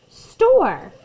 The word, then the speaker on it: store: And the very last part of that word is a silent letter. St. Or. And it's not saying anything, it's just being quiet.